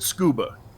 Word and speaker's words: scuba: Why do you pronounce it scuba? Because you have a vowel being a U followed by a single consonant, which is then in turn followed by another vowel, which means that you would use the long O sound for that U.